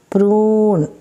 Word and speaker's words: prune: This is prune. Prune. It is not prune. It is prune.